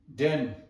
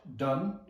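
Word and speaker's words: དན: Bharata da na den. Bharata da na den. Bharata da na, not done, but den, because na is to be pronounced and it should also add imaginary tempo on the consonant ba.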